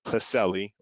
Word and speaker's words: PSELI: It's called CASEL. We pronounce the P in this one.